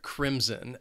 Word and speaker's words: crimson: Then we have the color crimson, and this word also has two syllables, and the stress is on that first syllable. That second syllable has a bit of that schwa, that sound. Crimson.